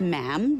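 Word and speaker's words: ma'am: and after that is just mam rhymes with jam and it's always a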